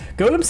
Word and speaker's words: GOLM: GM much to surprise this ends up being pronounced like Golem anyway what the [